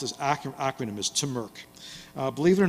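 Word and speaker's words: TMRC: the tech Model Railroad Club uh which you pronounced as AC acronym as T Merk uh Believe It or Not hacker ISM was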